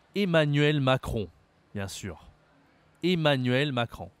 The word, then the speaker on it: Macron: bien sûr Emmanuel Macron attention ici à la prononciation c'est pas facile Emmanuel Macron Macron ici tu vois on utilise le nez pour prononcer le nom du Président de la République Macron ce n'est pas Macron hein mais c'est bien Macron on verra une prochaine